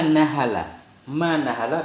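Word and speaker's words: نحل: Qala Nabiyyu alaihi salatu wassalam, Nabi bersabda, ma nahala bi fathin nuni wal ha'il muhmalati, cara bacanya dengan fathah nun dan dengan fathah ha yang muhmalah, ha yang tidak ada titik, artinya a'ta. Ma nahala walidun walada, tidak memberikan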